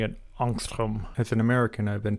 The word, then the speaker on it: angstrom: is 2.26 angstroms now that symbol angstrom is named after a Swedish physicist and so I should really be pronouncing it anstrom as an American I've